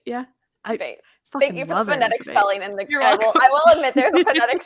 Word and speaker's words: Tveit: Tveit, yeah. Tveit.